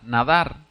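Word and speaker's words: נדר: palabra voto hacer un voto es la palabra nadar no es nadar de de de de tirarse al agua sino nadar se pronuncia así en el hebreo es hacer voto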